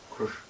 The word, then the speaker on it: Krishna: The hissing noise is sometimes produced because they don't realize that it's Krishna. These R, S, and N are pronounced at the back of the palate.